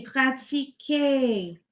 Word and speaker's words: pratiquer: pratique alors que c'est pratiquer. Tu vois la différence la différence de la prononciation là c'est pratique. pratique mais j'ai besoin du verbe à l'infinitif. Donc il faut pratiquer pratiquer euh les les élevés doivent doit pratiquer tous les jours.